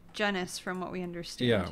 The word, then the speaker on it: Genuis: correct my pronunciation because I've said genuis for so long yeah we've heard it both ways so I guess in our brains it's kind of confusing some sometimes but it is genis from what we understand